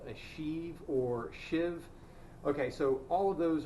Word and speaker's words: sheave: look in the dictionary what's spelled she even pronounced shiv versus a pulley the essentially they are described